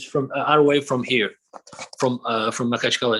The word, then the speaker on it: Makhachkala: Are you in Makacharaka? I believe that's the name. Is that Maka? Am I saying it right? It's Makhachkala. Makhachkala.